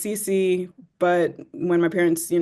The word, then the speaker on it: Sissi: to school and so my name is pronounced CeCe but when my parents